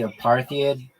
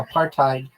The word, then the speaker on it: apartheid: You mean a partid? Yeah. I mean that's the same thing. Why did you pronounce it? I've never heard anyone say that. I get it spelled like that. Hold on. Yeah, you're right. Well, am I not I know. Yeah. Apartheid. Aparttheid. Yeah, you're you're 100% right.